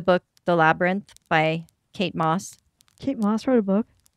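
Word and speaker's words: Mosse: not read that book it's Kate Moss m-o-s-s-e so it's a little different very different so that e changes everything okay good because yeah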